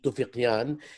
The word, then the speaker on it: Toufiqian: And our guest author and writer is Toufiqian. He told me that we pronounce it like we do in Arabic with a qaf, and I was really impressed.